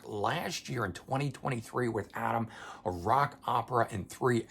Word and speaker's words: Atum: later after um Adam spelled a t u M so I kind of sometimes want to say autumn but it's actually pronounced Adam anyway this one here